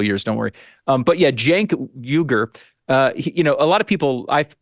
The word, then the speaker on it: Cenk Uygur: whatever his name is, My team think, tells me it's Cenk Uygur. You pronounce it Cenk Uygur.